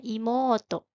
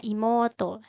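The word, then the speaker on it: いもうと: selanjutnya adik perempuan ada imoto ada adik laki-laki ototo jangan lupa jika ada dua huruf vokal berdampingan maka dibacanya agak panjang contohnya imoto dan ototo dan yang terakhir ada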